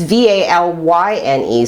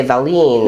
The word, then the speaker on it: Valyne: She'd like Valentine without the time because it's Valyne. So I would have been inclined to say Valine or Valine.